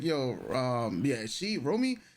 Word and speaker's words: Romy: It's OTK and uh so um yes, this artist Ramy Ro. Romy, right? Romy.